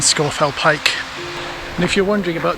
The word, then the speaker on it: Scafell Pike: of the lake and all locals know it's scorefell and scorfell pike and if you're wondering